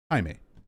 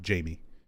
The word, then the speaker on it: Jaime: pronunciation hispanic name jaime when it's a hispanic given name is usually pronounced jaime not jamie how do we know